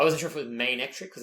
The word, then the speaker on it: Manectric: How do you pronounce that, Manectric or Manectric? Yeah, like magnet and trick, right? Was that it? Manectric. Electric. Magnetric. Yeah. Okay, good. Alright, we'll stick with that. I wasn't sure if it was Manectric because it's got like a main.